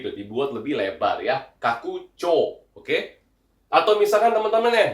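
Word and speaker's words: 拡張: Cara bacanya adalah bukan hero Cho ya, tapi kaku CO yang artinya itu adalah perluasan atau ekspansi ya.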